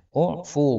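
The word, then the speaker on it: اُعْفُ: Falamma kana fi tsalitsah, lalu tatkala sudah yang ketiga, qala, beliau menjawab, u'fu. Ini bacanya pakai dhammah ya. U'fu, maafkanlah, anhu, dari pelayan, fi kulli yaumin, setiap harinya, 70 marrah, 70 kali.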